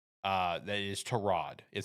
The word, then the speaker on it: Tyrod: It's uh Terrod. Uh that is Terrod is how you pronounce it.